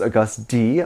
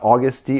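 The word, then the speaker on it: Agust D: He had a music video recently where he was August D, his alter ego. Apparently I've been saying it wrong. It's not August D, it's August D.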